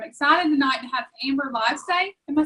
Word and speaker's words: Livesay: But I'm excited tonight to have Amber Livesay. Am I saying that right, Amber? No, but nobody ever does say it right. It's Livesay. It's nothing like it looks.